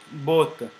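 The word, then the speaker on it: botte: uh in in France whenever you see Double T uh when any uh consant which is used Double T you don't not have to pronounce them uh twice so which means I I want to say that you do not pronounce it like both okay but as if it is single letter both both both uh which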